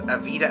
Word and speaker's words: Avita: They kept on calling me a, and I'm like, no, it's Avita. There's a V, not a D.